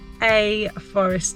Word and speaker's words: Ae Forest: in the sunshine and we are heading to a forest today that's how it's pronounced I think it's spelled AE Forest um